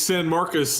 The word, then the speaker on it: San Marcos: and you're going to San Marcos on Thursday night to play a very quality Texas State Lev do it correct him level how do you pronounce it it's San Marcus and this is the